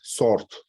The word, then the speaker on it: sword: Sword. We don't pronounce W.